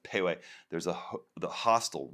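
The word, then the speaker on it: Pehoé: It's spelled P-E-H-O, but it's pronounced Pauai.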